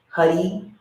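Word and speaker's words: Haray: Hud, Hud, Hud, Hud, Huddy, Huddy. So remember when we say Hud, we roll our R's, our tongue hits our upper palate, and Huddy is 2 syllables.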